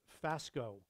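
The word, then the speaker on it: φάσκω: Now, this word right here, profess, the word is phasgo. Phasgo in the Greek. I think it's spelled P-H-A-S-K-O in English, if you were to spell it in English.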